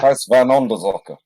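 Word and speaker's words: Huis van Onderzoeker: Let's have a pronunciation, please. House van Onderzocker. Onderzoeker. Oh, yeah. Yeah, that's pretty much. Yeah. Huis van Onderzocker.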